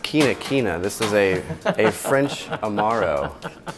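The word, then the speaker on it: Quinquina: That is pronounced quina quina.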